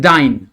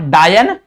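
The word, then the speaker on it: dyne: कुछ ऐसा नाम है ट इज डाइन ओके नॉट डायन इट्स अ डाइन ओके इसको प्रोनाउंस करते हैं डायन मत बोल देना कि सर डायन है डायन है ना डायन नहीं है उसको डाइन बोलते हैं और उसको लिखते भी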